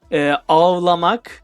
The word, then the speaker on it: ağlamak: Yeah, it is pronounced like H. Like if we are like pronouncing like crying, cry, ağlamak, A H L A M A K, ağlamak, ağ, H. We are using H.